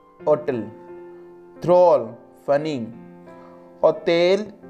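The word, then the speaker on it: hôtel: For example, hotel, hotel. Drôle, funny. Hotel, H is always silent in French.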